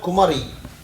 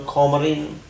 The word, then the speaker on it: Kumari: The word Kumari has been converted and distorted and murdered by the Britisher who ruled India with the term Comarin, because he couldn't pronounce Kumari. Kumari became Comarin. What Comarin? And having some sales in textiles, Comarin. It is Kumari.